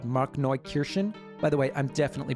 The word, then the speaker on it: Markneukirchen: Apparently, there's a small town in Saxony called Markneukirchen. By the way, I'm definitely pronouncing that wrong. Here's how Wikipedia says it's pronounced. Markneukirchen.